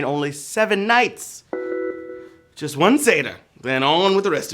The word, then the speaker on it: seder: vey indeed all right it's pronounced like as the half goat man from narnia right seder but it's an important